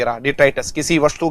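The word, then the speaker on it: detritus: तो ठीक है, हाँ, डिट्राइटस हो जाएगा, डिट्राइटस। प्रोनाउंसिएशन थोड़ा सा इसका ध्यान देना, डिट्राइटस, ठीक है, डिट्राइटस।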